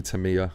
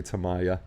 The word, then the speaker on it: Tamiya: tamiya tamaya you know it's actually tamiya but people say tamaya i'm not even going